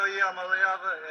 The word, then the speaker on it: Iamaleava: I'm Nico Iamaleava, and I guess he is.